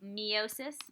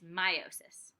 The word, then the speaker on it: meiosis: half of the information meiosis pronounced like my Oh sis a lot of times you might say meiosis but it's meiosis during meiosis one diploid